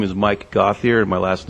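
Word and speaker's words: Gauthier: your address good evening my name is Mike gothier and my last name is spelled g Au u t h i e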